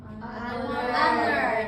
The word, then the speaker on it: honor: Honor. Jadi ini disebut silent H. Jadi hanya itu bisu, diam, gak disebut.